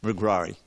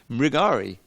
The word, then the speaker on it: Mrigari: root in ISKCON, and it just became Mrigrari. It somehow sounds, it flows off the tongue easier. Mrigrari, but that R shouldn't be there. Mrigari.